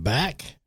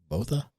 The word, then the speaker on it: Botha: Today we have Ba or as I pronounced it was Botha. I said Ba. So you said Ba. Either way, I mean, you know, but I think the correct way was BA.